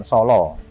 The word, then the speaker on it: Sala: Nah Solo itu nama dusun, nama tempat, nama hutan Solo. Bukan Solo. S-A-L-A. Salah. Solo. Ya, bacanya Solo.